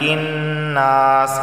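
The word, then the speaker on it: النَّاس: قل اعوذ برب الناس، ملک الناس، یہاں بھی نون پر تشدید ہے، غنہ ہوگا۔ الہ الناس، یہاں بھی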